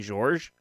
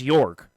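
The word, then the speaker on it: Jörg: He says I can pronounce it like York, like New York, but it's not 100% correct. I think I kept saying George, so I think it's Jorg.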